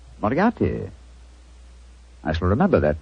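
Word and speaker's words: Moriarty: I'm afraid I'll have to begin calling it the way it looks. M O R I A R T Y. Miati. Moriati.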